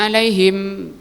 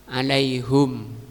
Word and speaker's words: alaihim: Alaihim ini dua bacaannya, ada dua bacaan. Ihdahuma dummal ha, pertama di dhammah haknya. Berarti bacanya alaihum. Nah, wasaniyatu yang kedua kusriha di kasrah menjadi alaihim.